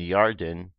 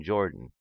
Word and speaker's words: Yarden: because in early English the letter J was pronounced the way we pronounced why today all proper names in